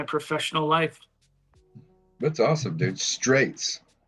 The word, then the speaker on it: Strejc: Last name is pronounced Straits.